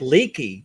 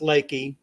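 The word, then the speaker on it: Leakey: at the title of it it looks like leaky so you're it looks like you're going to be staying in a leaky historic Inn we were just hoping it wouldn't rain but Dallas said no it's pronounced Lakey and she and her husband were just wonderful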